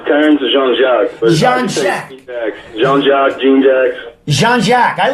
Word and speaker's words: Jean-Jacques: It's Terrance Jean-Jacques.